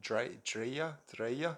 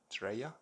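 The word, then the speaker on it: Dreijer: artist behind Fever Ray Karen is it Drea she's Swedish treya the J I think is silent in Swedish um so the first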